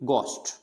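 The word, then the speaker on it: ghost: फिर होता है गोस्ट, यानी घोस्ट नहीं बोलना, घोस्ट यानी है इसके अंदर जो एच है उसका साउंड नहीं आना चाहिए, गोस्ट।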